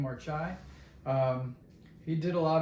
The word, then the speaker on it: Marchaj: a book by uh marai that's how you pronounce his name marai um he did a